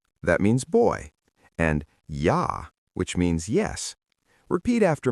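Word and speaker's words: ja: In German, J is always pronounced like Y. For example, Y that means boy and Yah which means yes. Repeat after me. Yah.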